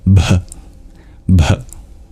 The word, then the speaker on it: Bhagavate: on pronunciation for example the BH sound is a little breathy that H is not silent b b and the M with